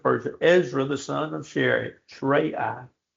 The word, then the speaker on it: Seraiah: King of Ezra Artaxerxes, king of Persia, Ezra the son of Seraiah. Seraiah. Try I'm going to get it right in a minute. Seraiah is how you say it.